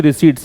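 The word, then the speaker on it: receipt: Verb है, central GST रिसीट्स की जो सेंट्रल जीएसटी प्राप्तियां हैं केंद्र स्तर पर, जो जीएसटी की रिसीट्स हैं, इसको रिसीट बोलते हैं, रिसिप्ट नहीं बोलते हैं, पै का उच्चारण इसमें होता नहीं है, और रिसीट का मतलब प्राप्तियां होता है।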